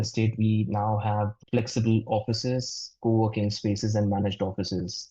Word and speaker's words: Awfis: You pronounce it. Yes. It's office. It's called office.